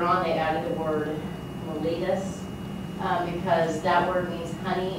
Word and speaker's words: mellitus: Diabetes is one of the oldest known diseases, and its official name is called diabetes mellitus.